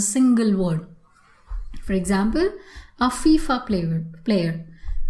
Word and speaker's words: FIFA: word for example a fifa player player you never say a fifi player but you say a fifa player fifa goes together so it's an abbreviation that is spoken as a single word and hence you can